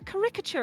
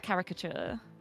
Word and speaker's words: caricature: But caricature. Okay, the emphasis is not on the Rick.